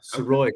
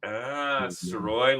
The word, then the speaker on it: Sirois: Yeah, Sirois, kind of like Illinois. We get that silent S. Sirois, like Illinois.